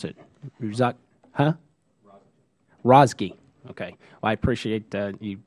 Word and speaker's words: Razeghi: You're going to have to pronounce it. Razeghi.